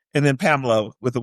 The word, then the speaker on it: Pamelya: It's pronounced Pamela, but you put the Y in there, and you said that she put the Y in all the children's names.